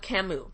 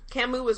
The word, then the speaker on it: Camus: If not, always go with Camus. Camus is really wonderful, but it's spelled C-A-M-U-S, by the way, just so you know.